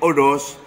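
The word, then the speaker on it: ὁδός: But syn, odo, silent H sa Greek, hodos, silent H, odos, being.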